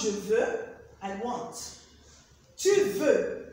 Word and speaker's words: je veux: Je veux is pronounced je veux, I want. Tu veux, it's not je veux. X is silent, remember the rule.